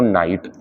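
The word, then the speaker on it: knight: इसे पढ़ते हैं बच्चों नाइट के साइलेंट है इसे पढ़ते हैं नीड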